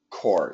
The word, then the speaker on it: corps: see this word core it is silent P silent s and the pronunciation is core c r e okay